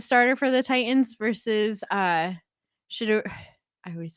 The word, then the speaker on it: Shedeur: He's not a shedonter. He's a Shedeur.